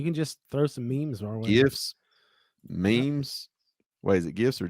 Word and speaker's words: GIF: wrong but it is it's the G it is a g with a hard G sound it's supposed to be a gif and so yeah so